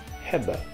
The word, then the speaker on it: hebben: In Dutch, the verb to have is pronounced hebben.